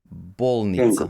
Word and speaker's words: bolnica: talk about stress, so if the word is short, Mm-hmm. maybe up to 3 syllables. Mm-hmm. Um, up to 3 syllables. Then uh, it's stressed on or at, I guess, on the first syllable. Oh, So kengur, bolnica.